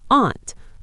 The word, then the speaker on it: aunt: In some places, like the US, people say it just like the insect, an ant. Wait, like the tiny little things that crawl on my picnic blanket. Exactly. My aunt Sarah, but in other